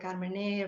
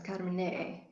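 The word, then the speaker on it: Carmenère: Without the last E, I suppose, Carmenere.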